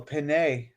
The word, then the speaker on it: penne: Well, I had tomato basil penne. Nice. Oh, a penne. What's a penne? That sounds fancy. Type of noodle. A what? Yeah, it's just noodles. Yeah. Oh, It's so penne, right? it's a penne.